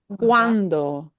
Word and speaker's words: cuando: So that CUA is like cua. Cuando. Cuando. The word for when.